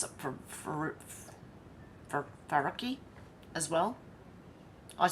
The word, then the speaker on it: Faruqi: Senator Farquhar. Thank you, Chair. It's Faruqi.